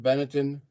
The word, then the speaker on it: Benetton: Is that how you pronounce that, Benetton?